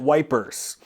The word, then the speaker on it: Ypres: The British, though, they called it wipers.